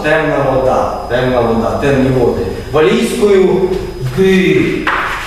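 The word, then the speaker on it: du: Валійською ди. Пишеться так, а читає це. Читається українське і. Побачимо, як пишеться українське і.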